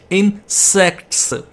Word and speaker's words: insects: ये ना हो कि आप T इसमें ना pronounce करो. T pronounce करना ज़रूरी है. इंसेक्ट्स, सेक्ट्स, टी इसमें सुननी जरूरी है.